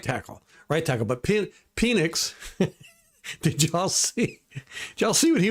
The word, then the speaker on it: Penix: He was like, "No, my name is Penix. It's pronounced Penix." I'm like, "Yeah, that's never gonna work, buddy. It's Penix."